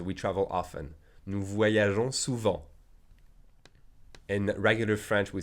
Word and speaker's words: souvent: The adverb often is souvent. IN is pronounced en. The T is silent.